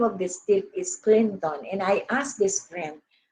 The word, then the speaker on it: Clinton: You know, the last syllable was very much obscured. And so to be understood, you don't have to say Clinton. It has to be Clinton, you know.